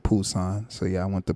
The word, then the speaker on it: Busan: People say Busousan, but they pronounce it Busan.